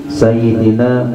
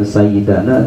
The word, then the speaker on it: sayyidina: kepada saya mengucapkannya hati sayyidina muhammad nya jadi senang hati ini membacanya Bukan sayyidana tapi Sayyidina ya ini katanya sebelah